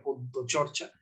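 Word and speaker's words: পদ্যচর্চা: En Bangla se pronuncia la Y, no se pronuncia Y. Bangla es una lengua fonéticamente compleja. Se escribe una cosa y se dice, se pronuncia otra cosa. En Bangla la pronunciación sería Podchorcha, literalmente significa estar en poesía.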